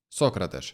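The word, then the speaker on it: Sócrates: дуже цікавого бразильця сократиш хоча мені би хотілось сказати сократиш але в нього все-таки наголос на О я навіть в Ютубі знайшов ретро відео послухав як коментатор каже І це сократиш по стати це картка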